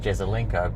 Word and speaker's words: Jesaulenko: and is it true that due to an immigration official making a mistake, that's why your name is pronounced Jesaulenko, but really the J shouldn't be there?